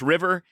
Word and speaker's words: RVR: Uh it's pronounced river and it's an izakaya, so Japanese style.